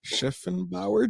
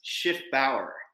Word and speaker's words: Schiffbauer: It's Schiff Bower Jr. It's a German name. People get the typically the spelling wrong all the time. The C is silent. I have two Fs.